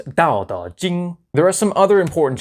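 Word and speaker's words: Dao De Jing: Plain T in the Wade-Giles system represented a D sound.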